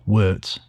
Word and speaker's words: wort: Before brewing can begin, the raw ingredients need to be mixed together to create something called wort. Spelled w o r t, but pronounced like, well, shirt.